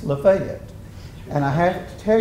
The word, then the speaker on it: Lafayette: And uh you know down there it's not Cairo, it's pronounced Cairo. Cairo, Georgia. And it's not Lafayette, it's Lefayet.